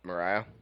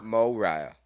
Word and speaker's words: Moriah: Mariah? No, more. Moriah.